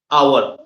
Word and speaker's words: hour: In this case in hour h o u r the h is silent. Okay? And it starts with an o sound. Hour.